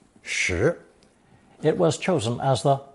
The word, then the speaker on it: 拾: Since this character is pronounced the same as the number 10, shi, it was chosen as